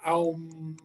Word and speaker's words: Om: It is the word sound Om. It's spelled O-M. It's actually pronounced Aum.